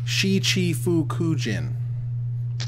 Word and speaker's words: Shichifukujin: Well, thanks to one of our chat members here, I can now pronounce the crazy Japanese card, which is Shichifukujin.